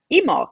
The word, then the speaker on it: Imbolc: go around to today you get emul which is spelled i b o LC and I I was